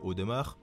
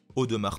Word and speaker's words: Audemars: numéro 6 audemars piguet contrairement à une croyance répandue on ne prononce pas le e2 au démarre avec un accent aigu on prolonge bien au de marc piguet la marque du brassus